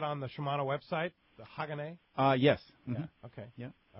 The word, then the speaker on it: Hagane: Is it pronounced Hagane? Oh, Hagane, yeah.